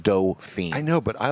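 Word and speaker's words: Dauphine: you but it's a it's a doping it's pronounced do-fine i know but i like dolphin dolphins uh-huh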